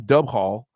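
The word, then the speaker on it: Dubhghall: all right so I I'm gonna say that it's pronounced maybe doob Hall or dubal d-u-b-h-g-h-a-l probably dubal okay so let's just say it's pronounced Duval okay or you could pronounce it dub Hall however you want okay uh he had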